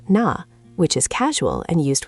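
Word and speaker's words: 나: There's na, pronounced na, which is casual and used with close friends.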